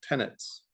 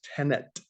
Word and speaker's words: tenet: this thing called operational tenants uh sounds like the word tenant as in like renter but uh or occupant but it's not there's no end there it's tenet uh and the word